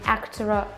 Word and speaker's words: actor: In actor, we have a final schwa, actor. But the next sound is a vowel. If I wasn't an actor, so we pronounce a small r in actora, actora. And I here is not pronounced like actor-I, but actor, I think.